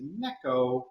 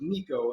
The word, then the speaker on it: neko: kitten or for cat which apparently is necco which even even so i know i'm not pronouncing it exactly right but i always thought it was nico and it's not it's an echo-ish anyway you put a